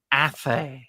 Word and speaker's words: Athay: I mean, sometimes people get my name wrong. It's Athay.